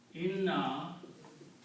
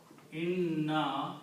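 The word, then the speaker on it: إِنَّا: There are three noons here. Okay? But when we combine these, one noon is not pronounced. It is not written. So this is written as inna. Okay. Two noons are left. Third noon is not written, not pronounced.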